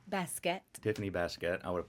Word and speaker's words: Baskett: my guest Tiffany Tiffany what's your last name baset Tiffany baset I would have probably butchered that so I'm glad that I her